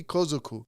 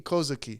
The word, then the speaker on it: Kozuki: It was owned by Toki Kozuku. I mispronounced that. It was owned by Toki Kozuki.